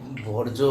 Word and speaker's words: বর্জ্য: বর্জ্য উচ্চারণটা প্রথম দিকে একটু ভুল হচ্ছিল, বজ্র বজ্র শুনছিলাম। বর্জ্য হবে।